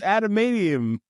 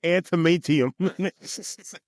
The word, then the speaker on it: adamantium: It's adamantium, whatever. That's what I said. No, you said antimatium.